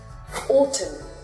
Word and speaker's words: autumn: But the letter N is not pronounced when it comes after the letter M. For example, autumn. That's it for this episode.